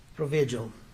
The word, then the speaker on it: Provigil: substance you're referring to uh for examp example provigil could you pronounce that again p r o v i g i l provigil I I don't know if he was